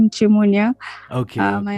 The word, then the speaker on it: Nchimunya: that okay hi so my name is auntie munya it's pronounced shimonya okay hi my name